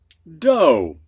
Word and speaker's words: dough: Sometimes ough just sounds like long O, like in all. Whoops. Go ahead, students. Although, almost gave that away. And dough.